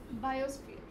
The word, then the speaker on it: biosphere: The stress is on B.